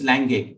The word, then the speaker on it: langue: Okay, it's langue because these are French words, so pronunciation is slightly different than what we have in English.